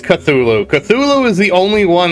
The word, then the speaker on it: Cthulhu: Yeah, Cthulhu has Cthulhu is the only one that I said it wrong. It's Cthulhu.